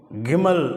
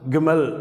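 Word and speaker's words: גימל: அடுத்த எழுத்து கிமல் அப்படின்னு உச்சரிக்கிறோம்.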